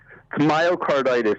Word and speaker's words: myocarditis: my car how do you say it again myocarditis is what it's called and it's an inflammation